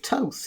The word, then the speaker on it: Thoth: to his followers okay Toph spelt th o th but modern academics say it's pronounced Toth so that's what I'm